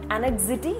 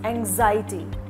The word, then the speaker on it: anxiety: is competitor it's not anxity it's anxiety it's not break fast